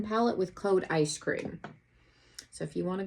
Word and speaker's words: Eyescream: 1 palette with code Eyescream. So if you want to go on there, it's EYESCREAM. Exactly like ice cream. Not ice cream, Eyescream. Just like the box is spelled, and you can get $10 off.